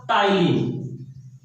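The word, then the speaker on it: ptyalin: ए amylase या टाइलिन। Amylase या टाइलिन, P silent है।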